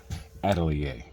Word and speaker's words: Atelier: Atelier that's how you spell it but it's pronounced Atelier okay and laughs to me it looks like